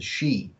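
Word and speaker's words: Sídhe: here in Ireland we call them the shei and that's spelled s DHE now the shei um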